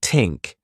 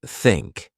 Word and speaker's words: think: For pronunciation, you might struggle with the thea sound, saying tink instead of think. I used to do that, too. Practice by putting your tongue between your teeth and blowing air like think.